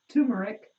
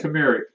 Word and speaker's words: turmeric: Sandy wants to know, do I leave the ginger and turmeric? I don't know. How do you say it? Turmeric? Turmeric.